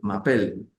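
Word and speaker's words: m'appelle: debo hacer una elisión entonces esa e se pierde y se coloca un apóstrofe como cuando yo digo y mapel Je mapel mapel eh Debería ser y luego viene un m que sería m e y luego apel pero como m e terminan e y luego viene apel y apel es una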